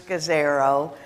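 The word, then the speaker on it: Scazzero: in that the emotionally healthy church by Peters cos arrow and that last name is spelled SCA ZZ ero and basically his premise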